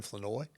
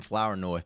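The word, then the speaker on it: Flournoy: By the way, Derek, I appreciate the uh the pronunciation of that. We got to get that right cuz there's a bunch of people out there that's still calling him Flower Noi.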